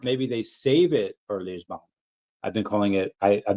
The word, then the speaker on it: Lisbon: guess Monday, or maybe they save it for Lisbon. I've been calling it. I've been pronouncing it in every way that I can. And how do you pronounce it? Lisbon.